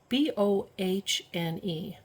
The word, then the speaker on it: Bohne: In German, the word for bean is spelled B-O-H-N-E, and with her accent, she would say Bohne Soup.